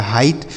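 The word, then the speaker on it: height: को हम पढ़ेंगे हाई एच ई आई को क्या पढ़ेंगे हाई और जी एस टी को पढ़ा जाएगा ट लिखा गया हाइट तो आपको समझ में आया ना कि जी एस टी अगर किसी भी शब्द में लिखा रहेगा तो उसे केवल और केवल आपको ट पढ़ना है ठीक है ऐसे ही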